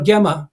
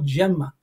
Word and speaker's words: Gemma: um like you know for 10 years giuliano gemma and then somebody said no gemma yeah well we never